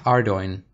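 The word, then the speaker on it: Ardougne: you to ardoin during the first stage uh ardoin yeah let's let's just take a moment to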